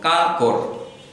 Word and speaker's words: কাঁকড়: এখান থেকে উ চলে যাচ্ছে সেজন্য উর পরিবর্তে আমরা চন্দ্রবিন্দু ব্যবহার করব এবং উচ্চারণে নাসিক্য করব, কাঁকড়, কাঁকড়।